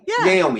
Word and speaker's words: Naomi: know i mean uh naomi am i pronouncing your name right first of all naomi naomi naomi yes hey bobby i would be niomi yeah that is naomi yeah okay thank you